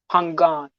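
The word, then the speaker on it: Phangan: n g a n it's called pangon but pangon it's ph yeah i have not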